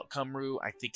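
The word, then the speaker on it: Cymru: about the team uh cumru um I call it cumru I think it's it it's it's pronounced very oddly it's a Welsh word I believe uh but uh uh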